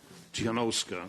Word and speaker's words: Tsikhanouskaya: just a formal remark i would call on colleagues to pronounce the name of tianowska svetlana in the belarusian language not russian and this is addressed